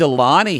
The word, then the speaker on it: Aulani: like I really loved Aulani here she's a fast learner's you're not pleasant yeah it rhymes with baloney um she's like I